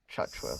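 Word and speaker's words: Tchatchoua: They've also signed, how do you pronounce the Bernie's name? Uh, oh, Jackson Chatua. Chhatua.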